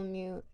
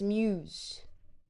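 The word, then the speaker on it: mews: Um, a mu is a different thing. I believe a single mu is a single of muse is spelled with an s. Okay, so it's not mu, it's muse with an s at the end.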